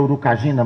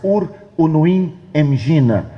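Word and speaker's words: Uruinimgina: Nos anos 70, um professor de filologia tcheco defendeu uma tese de doutoramento comprovando que, ou demonstrando, que a pronúncia certa não seria Urukagina, mas Ur Unuim Engina.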